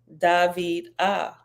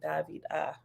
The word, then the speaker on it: Davida: means beloved is pronounced David ah okay David ah okay David ah with the emphasis on the second syllable okay behold I was